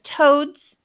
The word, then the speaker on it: toads: what it is now in this case it's important that we do because if not it sounds like toes toes but it's a toads toes toes toes and so before I'm saying the S I'm basically stopping the word to identify and to